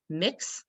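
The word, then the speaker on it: Mx: belongs to our community mix is how it's pronounced and if someone has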